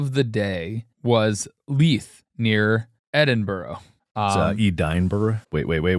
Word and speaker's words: Edinburgh: The pronunciation of our capital city in Scotland. Say it. It is Edinburgh.